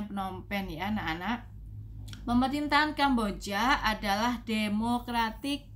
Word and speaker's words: Phnom Penh: ini adalah negara Kamboja ibukotanya penopen jadi bacanya Phnom Penh anak-anak pemerintahan Kamboja adalah